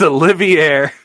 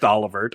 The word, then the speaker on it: Olivert: by your favorite Prince Olivier himself I know it's pronounced olivert I I don't care